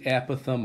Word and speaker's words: apothem: So right here, if this is how you spell it, apothem. A lot of people say apothem. I don't like it. I like apothem.